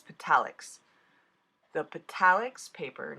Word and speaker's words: Petalics: And I wanted to use the pure gold Petaletics to die cut out the tree. If you've never die cut on the metallic I said it wrong. It's Petalics.